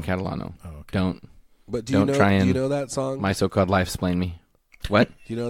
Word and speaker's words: Catalano: Jordan Catalano is still first in my heart, but I think it's pronounced Giacomano. No, Jordan Catalano.